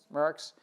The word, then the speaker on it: Maersk: TradeLens, the IBM and Merck's, how do you pronounce the company? Merck's.